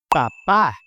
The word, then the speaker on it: papá: For example, papa, papá. See, you don't want to call your dad a potato.